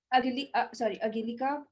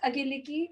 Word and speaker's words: Angeliki: And now we've got, last but not the least, we have Angelika. I'm sorry, I'm pronouncing her name wrong. I just written, yes, it's Angelika. No worry, Angeliki again. Nika. Sorry, yes, Angeliki.